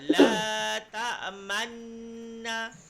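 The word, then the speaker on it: لَا تَأْمَنَّا: Qalu la ta'manna. La ta'manna. Man kan dengung. La ta'manna. Ketika kita sebut man, bibir ke depan.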